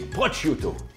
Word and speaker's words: prosciutto: Donc, une recette pleine de goût et de fraîcheur, melon et prosciutto. Bravo, tu l'as bien prononcé.